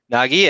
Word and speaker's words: Nagy: Nagy, and then the other bloke. I had a girl that went to my school with that surname was pronounced Nagy. Yeah, Nagy.